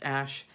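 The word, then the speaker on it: Æ: That is, of course, Grimes and her son X, and then the AE symbol pronounced Ash, A-12, with Elon Musk.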